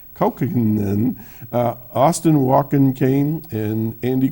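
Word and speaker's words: Kaukonen: Gordon joins folks like Roy Bookbinder, Jorma Cohen, no, that's not how you say it, I can't say it, Kaukinen, Austin Walken Kane, and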